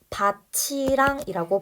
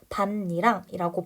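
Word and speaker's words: 밭이랑: 명사와 명사가 붙는 경우입니다이 경우 절대 바치랑이라고 발음하지 않아요 왜냐 구개음화가 일어날 수 있는 조건이 아니기 때문이에요 실질 플러스 뒤에 형식에 와야 되는데 똑같이 실질에 왔으니까이 경우에는 다른 의문 변동이 일어나서 반니랑이라고 발음이 되는데 왜 어째서 이게 반니랑이라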